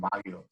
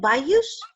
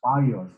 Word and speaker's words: bagyo: they also call them bagyos in the Philippines. So I'm sorry, how do you say that? Bayous? bagyos, just like the word looked like, and it's like you would say in Spanish, bagyo.